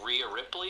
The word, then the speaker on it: Rhea Ripley: Someone like Rhea Ripley, is that how you say her name?